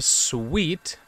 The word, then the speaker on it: Suite: Welcome back to Sweet. Apparently, I've been saying it wrong. I was saying it wrong. For some reason, I see sight. While spelling it out, I realized it was sweet.